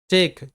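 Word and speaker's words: talk: টেক, টি এ কে ই, টেক, টেক। টক, টি এ এল কে, টক, টক। এল এখানে silent.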